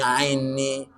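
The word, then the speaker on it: أعني: Allahum antas salam itu mah di awal-awal di akhir sebelum itu paling mendekati mepet apa itu ainni perhatikan a dibuka mulutnya ain ainni artinya enggak jelas Allahumma a'inni ala zikrika wa syukrika yes Kok hafal sekarang?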